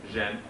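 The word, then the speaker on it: 仁: Now, Confucius identified a concept which is called in Chinese zhen, which is spelled J-E-N generally, which is the fundamental principle of God's creation and of man's essence as he reflects that creation.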